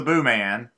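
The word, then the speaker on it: Booman: venerable blog boomin tribune is pronounced boo man or booming i've never really known morning boo man okay so this is the boo man Martin Martin Longman will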